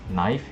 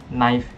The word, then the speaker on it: knife: and to H is knife because n and F knife start with k but we can ignore the K because knif the K is not pronounced so 2x for me